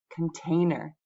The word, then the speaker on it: container: The next word has 3 syllables, and I want to show that the middle syllable gets the stress. And I'm going to write it this way, with the large circle in the middle.